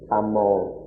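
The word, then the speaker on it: ธรรม: In Pali it's simply Thammo. But in Thai doesn't have any of this grammar kind of thing, and so it's just Tham in Thai.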